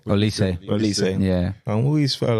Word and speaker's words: Olise: Is it Olise or Olise? Olise.